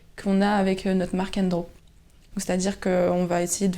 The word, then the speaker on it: Endro: Un peu comme Endro, on avait dit, il y a beaucoup de personnes qui prononcent Andro, mais à la bretonne, on aime bien faire ça.